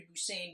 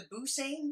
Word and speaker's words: Busan: But I am pronouncing it Train to Busan because why wouldn't you?